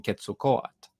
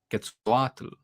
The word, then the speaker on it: Quetzalcoatl: With Mesoamerican mythology spanning across so many regions, I've seen numerous ways of pronouncing the name, including Quetzalcoatl, Quetzalcoatl, and Cuculclan, if we're going with the Mayan interpretation.